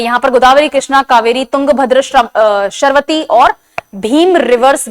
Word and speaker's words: कावेरी: Now Mahanadi, Godavari, Krishna, कावेरी। यहां पर कावेरी की इंग्लिश स्पेलिंग लिखी हुई है। आजकल अपन यूज़ ये नहीं करते हैं। के ए वी ई आर आई कावेरी बोलते हैं।